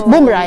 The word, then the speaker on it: Bumrah: It's Bumrah, yeah?